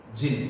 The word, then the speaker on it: jinn: Jinn, you have to pronounce the word jinn.